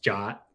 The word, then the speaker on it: JWT: at the fact that JWT is pronounced jot oh I'll never say jot I don't give a hell no I hate sitting in a meeting and someone says jot I'm just like God